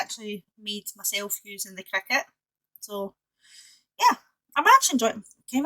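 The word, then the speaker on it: Cricut: here has entered the world of crack c-r-i-c-u-t cricket whatever you like to pronounce that I used to thank you I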